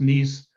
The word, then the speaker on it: Nice: as the nice model looks like nice pronounced nice couple europeans and the